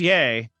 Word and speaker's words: Yee: How do you pronounce the name Yee? It says Yay. I thought it was Yee.